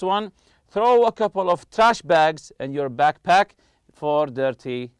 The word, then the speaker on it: trash bag: throw a couple of trash bags and your backpack for dirty laundry so we have here trash bag trash bag you put the stress on the first part also backpack backpack always